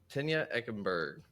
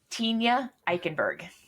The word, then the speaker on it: Tenya Eikenberg: and today we have a very special guest Tena ekenberg I said that right correct yeah Tena ikenberg ikenberg so close sorry about that it's all